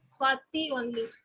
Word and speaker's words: Swati: And even in writing, you know, I've seen in Karnataka and all, I write SWATI, my name. But whenever they write TI, they always write THI. Though they pronounce it Swati only.